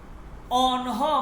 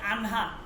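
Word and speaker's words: آنها: যেমন অনহ মানে তারা অনহ আমরা বলে থাকি আনহা আমাদের এ অঞ্চলে যারা মাদ্রাসাগুলো ফারস্ট বলে আনহা ঠিক আছে এইটা মূলত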